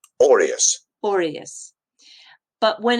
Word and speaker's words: aureus: When you just talk about it as a noun, so you're just talking about the coin, it is said like this. Aureus, aureus.